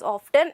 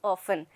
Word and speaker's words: often: i told you that not to pronounce the word as often it is often often so not to repeat